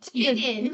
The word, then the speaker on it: Tilden: No, it would be pronounced Tidden without the Tidden. Oh, that's right. Tilden.